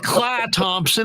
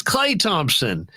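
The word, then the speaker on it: Klay Thompson: steph it's stephen curry it's not cla thompson it's clay thompson it's not it's like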